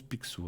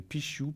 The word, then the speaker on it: Picsou: Alors, alors paraît-il qu'on le prononce Picsou, alors comme ça je saurais. Comme Picsou. Alors merci bien la régie. C'est vrai que je ne savais pas si on disait Pichou, Pixiou, Picsou.